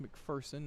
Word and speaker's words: McPherson: And it is pronounced McPherson, not McPherson.